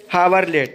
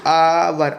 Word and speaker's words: hour: तो ही इज हावरलेट, ठीक है। देखिए हावर HOUR, हावर की स्पेलिंग क्या होती है? आवर। आ से शुरू हो रही है।